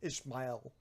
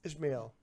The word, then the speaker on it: Ishmael: He's like, my name isn't fucking Ishmael. Oh, what is it? It's Ishmael. It's fucking biblical, dude.